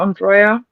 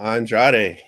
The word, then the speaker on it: Andrade: It was about Andrea. Andre. I can't say his name. Charlotte Flair's ex-husband. There we go. That one. Oh, Andrade, yes, Yeah, I that's didn't a know if